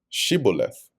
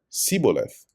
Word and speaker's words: Shibboleth: said they unto him, Say now Shibboleth. And he said Siboleth, for he could not frame to pronounce it right.